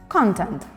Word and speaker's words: content: Note the difference in pronunciation of the word as a noun and as an adjective. As an adjective, we say content.